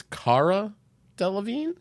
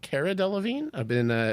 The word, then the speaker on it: Delevingne: I learned maybe it was yesterday that her name is Cara Delevingne and not Cara Delevingne.